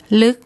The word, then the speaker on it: ลึก: So the initial consonant is low class. It's a dead syllable because it ends with a K sound, and this vowel is short. So when we look up the tone rules, that tells us it's a high tone.